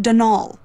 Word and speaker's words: Donal: that was the caretaker denal Delaney not Donald mind you there's no D at the end so it's pronounced denal that's the way you're